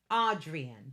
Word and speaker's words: Adrienne: Audrin. Adrienne. That's how you say it.